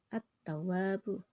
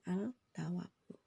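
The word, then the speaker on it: التواب: tanda bacanya tasdid juga attawabu bukan altawabu paham ya Jadi gini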